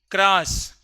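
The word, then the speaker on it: Kharasch: क्रॉस हम लोग के को ख पढ़ते हैं। तो स्पेलिंग में केस ही है।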